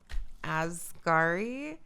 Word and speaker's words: Asghari: Asghari. Sam Asghari. Sam Asghari with Britney Spears, or Britney Spears with Sam Asghari. Britney Spears with Sam Asghari. Britney Spears with Sam Asghari.